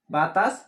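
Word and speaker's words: باء: আলিফ এইভাবে হবে না, আলিফ বাতাস বের হবে। আ লরিসি আর ফা। আলিফ। আলিফ বা। বায়াকার বা। বা। বা উচ্চারণ হবে, মুখ প্রথমে বন্ধ রাখবেন, বা মুখ খুলে দিবেন, বা উচ্চারণ হয়ে যাবে।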